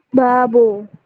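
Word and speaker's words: 밥: ini dibacanya BAB ya tiga huruf jika B posisi di akhir maka dia akan dibaca P seperti ini jadi kita bacanya dari kiri B tambah dengan vokal a ke kanan kemudian ke bawah dibaca P jadi kita bacanya bab sampai sini bisa dipahami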